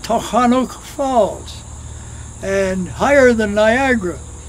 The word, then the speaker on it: Tunkhannock: Many people pronounce it Tunkhannock, but the closest verbal pronunciation I know, Tunkhannock.